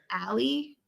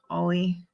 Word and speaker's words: Ole: So the OLE up here, because everything's super Finnish in the Upper Peninsula, would be like alley or ollie. I think it's like alley. Ollie.